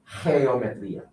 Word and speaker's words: Geometría: So when this letter is followed by this letter, it sounds like an H. And it sounds like a little bit of a different H, okay?